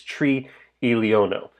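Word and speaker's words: triliono: long scale trillion is tree elio no note there are two eyes next to each other they're in separate syllables tree is the number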